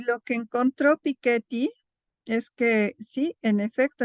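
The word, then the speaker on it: Piketty: saliera el libro de piqueti y además se pronuncia piquet porque los franceses pronuncias todo con acento en la última sílaba piquet pero bueno aquí le decimos piqueti entonces antes de su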